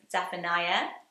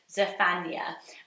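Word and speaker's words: Zephaniah: quite tempting as Eisenberg zapaniah zapania I know I do that but it's zafania um I prefer Naya at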